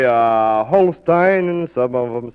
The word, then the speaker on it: Holstein: I heard some fellows down at WHO arguing the other day about whether it was Holstein or Holstein. I think correctly Holstein. You think correctly Holstein.